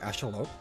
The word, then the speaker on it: axolotl: L that way, because axolotl. Though, if I'm not mistaken, I believe if you're pronouncing it properly, it's supposed to be like axolotl. Like, you don't pronounce the L at the end.